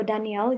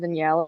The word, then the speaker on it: Daniele: So Danielle, do you want to say a few words? Yes, so my name is actually Daniele. It's pronounced like Bruce Lee, and I'm here because